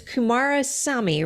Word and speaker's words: Kumarasamy: Your last name is Kumarasamy, right? Is that how you pronounce Everything.